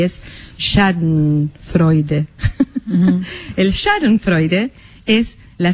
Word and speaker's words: Schadenfreude: profesora de alemán, que me explicó cómo se pronuncia, y es Schadenfreude.